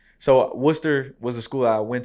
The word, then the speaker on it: Worcester: So you went from Princeton, and it looks like you went from, am I saying it right, Worcester? So Worcester was the school I went to.